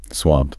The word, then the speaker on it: swamped: Swamped. One syllable.